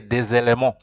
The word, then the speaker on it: des éléments: So you see des éléments, DES, you join the pronunciation with éléments with countable elements. So des éléments, that is a mandatory combination of two elements when we're pronouncing. You have to say des éléments.